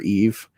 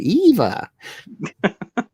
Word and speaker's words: EVE: No, it's Eve. It's just like how she says, she's like Eve, and then like Walle can't say it right, so like Eva.